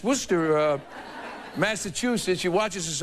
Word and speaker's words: Worcester: is it Kathleen yes now Worcester is w s t e r what is how do you say this we say it Worcester you say like I said it's Worcester uh Massachusetts you watches